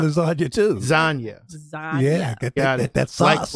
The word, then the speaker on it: Zania: Zania. How you say it again? Zania. Zania. It's like lasagna without the la.